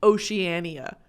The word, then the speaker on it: Oceania: do with her mouth Oceania no way it's pronounced Oceania just say Oceana just say oh Shena I I would like